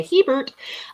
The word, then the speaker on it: Herbert: You say it like you're saying hello to Ernie's roommate. You say Herbert.